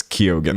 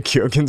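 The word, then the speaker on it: Keoghan: Uh these might be other valid pronunciations, but I mostly just default to how people pronounce their own name. So people in chat telling me Barry says Kyogan.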